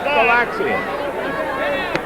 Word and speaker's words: Galaxians: Did I say it right or not? Yeah, you hit it right. No big deal. You got it. Galaxians.